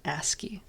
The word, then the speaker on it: ASCII: That's how you pronounce it, ASCII.